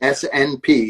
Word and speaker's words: SNP: SNP, it's pronounced SNP.